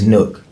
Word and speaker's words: Nuk: It's Nook. Oh, but because Nook. how it's spelled, Uh-huh. it looks like that. Okay, so, Nook. You know, it's Nook, but. Three letters. Everybody Nook. calls me Nook.